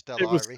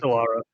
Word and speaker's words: Stellara: I can't remember if it was Stellara or It was Stellari. Stellara. It's Stellara. In that case, yeah, I got the name wrong.